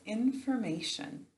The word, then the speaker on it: information: So we say inform to spell it instead of infirm. So inform and then a Sean.